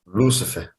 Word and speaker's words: Lúcifer: Aqui a palavra, observe que aqui tem um acento, ó.